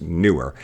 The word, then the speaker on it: Neewer: where someone who says it's actually it's pronounced newer and it doesn't mean anything in chinese they just pick that